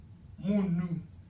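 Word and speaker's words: munhu: This is what I am called, Munu. Can you spell that?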